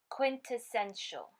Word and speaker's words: quintessential: This word is pronounced quintessential.